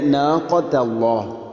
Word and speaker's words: ناقة الله: ഇവിടെ നാഖത്തല്ലാഹ്, നാഖത്തല്ലാഹ് എന്ന് പറയരുത്. ഖാഫിന് പകരം കാഫ് ആയാൽ അത് പൂർണ്ണമായിട്ടും മാറും. അപ്പോൾ നാഖത്തല്ലാഹ്, നാഖത്തല്ലാഹ് അല്ല ഖാ.